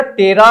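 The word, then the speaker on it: ptera: करते हैं तो उसमें यह टेरा शब्द आपको सुनने को मिलेगा पी यहां पे साइलेंट रहता है और यहां पे स्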